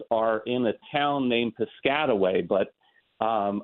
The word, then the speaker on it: Piscataway: in a town named Piscataway but um I've heard national uh uh announcers call it piscatway and I'm just I